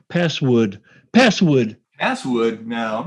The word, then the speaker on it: passwd: Um, Password? Isn't it PASSWD? No, it's password. Oh, okay. Well, then never mind. Not such a good story, but I remember you saying password.